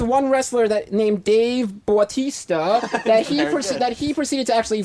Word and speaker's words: Bautista: Bautista. How do you pronounce it? Batista. Oh, okay.